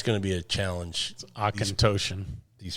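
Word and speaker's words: Auchentoshan: enjoy that one um say that name again Osan aoan a u c h n t o s h a n yep yeah it's going to be a challenge aoan these pronunciations for these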